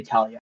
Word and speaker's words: Thalia: It is Joralf, and I'm not sure if you want to pronounce it Thalia or Talia. We'll say Talia.